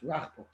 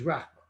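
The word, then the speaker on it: רחבה: Boimine Rechava, I'm not sure how the ArtScroll pronounces his name. It's Rachba. He says Rachba.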